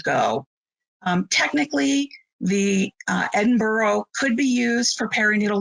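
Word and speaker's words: Edinburgh: correct pronouncing pronunciation of edinboro it's from scotland and airy needle losses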